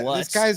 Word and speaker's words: Lutz: Wow, this, Will guy, Lutz, this 60 guy's yards. name rhymes with putts.